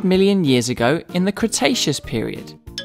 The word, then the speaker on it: Cretaceous: lived about 100 million years ago in the cretaceous period kra tay chess so what have we learned we learned